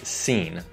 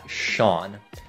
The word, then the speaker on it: Sean: Và cuối cùng, một tên có phát âm rất kỳ lạ. Ở đây không phải Sean, cũng không phải Sane, mà là Sean.